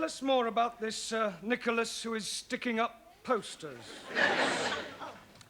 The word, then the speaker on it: Nicholas: upon a times there was a man called nickel ass it's not quite right no no once upon a time there was a woman called nich as it's pronounced Nicholas all right once upon a time there was